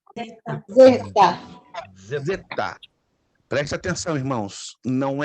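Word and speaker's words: ζῆτα: uma letra grega então anote Zeta não Zeta se você ouvir alguma gravação na internet com Zeta está mal pronunciado é definitivamente mal pronunciado é z z perfeito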